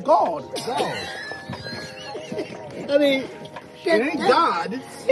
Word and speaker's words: GAWD: The A W is all, like God. And you can hear it, so it's God.